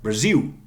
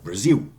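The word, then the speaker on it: Brasil: I just learned the proper pronunciation of Brazil in Portuguese would be something like Brazil. Okay, Brazil. No L. L-vocalized.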